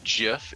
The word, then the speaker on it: GIF: But the thing is the actual creators of the Gif call it Jif.